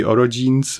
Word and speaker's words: orogenes: the children to be orogenes, which is the correct way to say roga, or the even worse way to say that if you read into it.